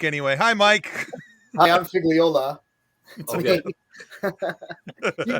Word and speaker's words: Figliola: bring in Mike anyway hi Mike hi I'm figola you call me fig that's totally fine what